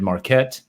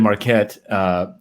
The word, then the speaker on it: Marquet: David Marquette. David Marquette is Marquet. It's pronounced Marquet. David Marquet.